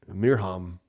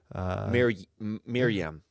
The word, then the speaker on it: Mirham: Mirham. Miriam. Mirham. Mirham. No, not Miriam.